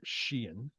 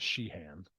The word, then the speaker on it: Sheehan: Billy Sheehan come on I learned how to pronounce his name right Sheehan not sheehand I'm never gonna let